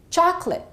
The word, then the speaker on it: chocolate: will give you that have these disappearing vowel sounds and therefore one syllable gets eliminated repeat after me chocolate I'd like some chocolate